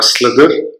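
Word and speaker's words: SlithIR: uses an intermediate representation known as slipped ir or slither as it may be pronounced which enables simple and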